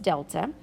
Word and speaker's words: delta: This triangle is pronounced delta, and it specifically means change. So anytime you come across this symbol in my class, we're always going to say it as delta, and the meaning behind